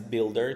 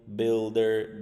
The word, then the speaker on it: builder: Next is builder. So to build, builder, building. You don't pronounce u. It's like there is no u here. God damn it. So as if there is no u, it's like builder, building, build.